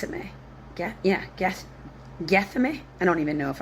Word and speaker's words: Gethsemane: Get Yeah, guess Gethsemane. I don't even know if I'm pronouncing it. g e t h s e m a n e Gethsemane. That's how I'd say that.